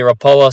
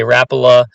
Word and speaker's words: Rapala: some people I say rapoa some people say Rapala or a variation thereof it's from one of the Scandinavian countries if you know exactly